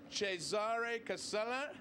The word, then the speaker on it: Cesare Casella: And we have Chef Cesare Casella. How'd I do there? Bravo.